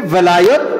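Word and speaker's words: ولاية: শব্দের অনুবাদ করছিলাম ওয়ালায়াত ওয়ালায়াতের উপরে জবর দিলে হবে বন্ধুত্ব আমি বন্ধুত্বের কথা বুঝাইলাম আর যদি নিচে জের দেয় সবাই বলুন কি দেয় ওয়ান নিচে যদি কি দেয় জের তখন হবে উচ্চারণ বাংলায় লেখলে বেলায়ত লেখে অনেকে আর আরবিতে লিখলে ভেলায়ত বা ভিলায়ত যেটাই বলে দুটোই শুদ্ধ তখন অর্থ হবে রাজত্ব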